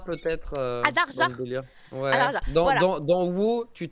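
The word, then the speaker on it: Einherjar: Anarjar peut-être. Adarjar. Ouais. Adarjar. Dans WoW, tu te bats dans cet univers-là et le gars te dit Enarjar ou Anarjar. Enerjar. voilà. Écoute, je vais prendre cette prononciation parce que j'étais.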